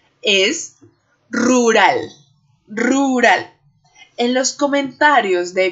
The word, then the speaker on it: rural: uva y algunos estudiantes que hablan portugués podrán decir como rural pero no por favor el español es rural rural no importa que estén exagerando mucho la gesticulación los movimientos de la boca para pronunciarlo lo importante aquí es que nos demos cuenta que si somos capaces de producir estos sonidos rural rural en la primera r la lengua vibra en él ru ru en la